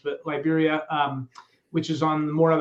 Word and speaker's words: Liberia: You can fly into San Jose, which is the capital city, or you can fly into, I always say it Liberia because it's just pronounced in Spanish, but Liberia, which is on more of the Pacific coast, and it's a much smaller airport.